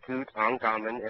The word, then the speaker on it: Tutankhamun: So, King Tut, Tutankhamun, is 3 syllables, Tutankhamun, and the Ankh in the middle, meaning everlasting life.